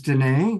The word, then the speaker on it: Danae: Also coming back is Danae, which reminds me that it rhymes with Renee.